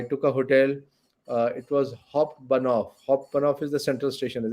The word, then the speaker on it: Hauptbahnhof: pronounce it? It's Habanov. Yeah, It's correct. Yeah. Habanov.